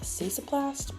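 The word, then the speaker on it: Cicaplast: the La Roche Posse I think it's pronounced cesoplast balm I love this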